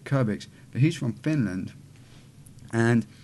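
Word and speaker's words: Kirbix: out to curbex 50 which is k-i-r-b-i-x the number 50. i think that's how you pronounce it kerbex but he's from finland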